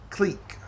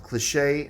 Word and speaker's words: Clique: Some people call it the cliche. No, I don't believe that's how you pronounce that word. I think you're wrong. Clique I can see. Clique I can see. Cliche is spelled a completely different way.